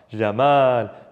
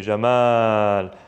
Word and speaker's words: Jamal: Knowing why we have double A, it's not because it's not Jamal, it's Jamal.